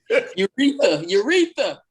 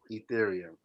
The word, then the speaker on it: Ethereum: Urethra. I'm gonna need you to pronounce these words correctly.